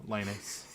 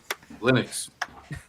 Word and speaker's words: Linus: him no that's all right Linux torvald yeah Linus Linux say it properly no he won't he never